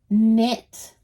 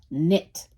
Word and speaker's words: knit: Knit. Silent K. K muda. Knit.